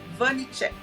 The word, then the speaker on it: Vanicek: Quero dar as boas-vindas ao Vanicek. Falei certo? Acertou. Muito obrigado, Você Carmen. falou Muito que obrigado por. teu sobrenome é de origem tcheca, né? Então, pra gente, em português, seria uma outra pronúncia, mas como nós brasileiros